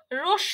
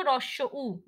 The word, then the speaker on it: হ্রস্ব উ: আচ্ছা, আমরা এখন থেকে আর রস্যু বলবো না, বলবো হ্রস্ব উ।